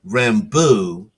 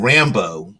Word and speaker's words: Rambeau: line um, that Monica Rambeau, which I'm surprised they didn't pronounce her name in the Cajun French style, as in Rambeau, like a loved one, a beau, Beau, rather than Rambo, which is Rambo, like like it that